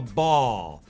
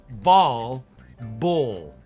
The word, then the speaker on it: ball: Well, in American English, we would say that you kick a ball. That's that same sound I was just talking about. You don't want to be kicking a bowl. That's the O sound, the long O sound. That's when we say, oh my God, look at how my lips are much more rounded here, more closed. Oh.